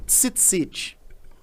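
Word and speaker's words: ציצית: Tzitzit. Tzitzit. Em hebraico você pronuncia Deixa tzitzit.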